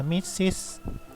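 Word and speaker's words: Mrs: แล้ว ก็ จุด เนาะ ตัว นี้ จะ อะนะ มิสซิส มิสซิส หนอ มิสซิส ก็ เป็น วัน นาง น้อง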